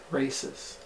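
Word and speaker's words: Raíces: How do you say that word? Races. Races. Oh, but it's R-A-I-C-E-S.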